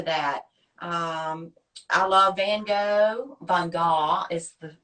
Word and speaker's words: Van Gogh: Van Gogh is the pronunciation.